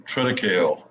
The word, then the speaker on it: triticale: We're also putting triticale. If you're not familiar, What is that? You mentioned that before. I don't know what that is. Triticale is, or triticale, is some of them are pronounced.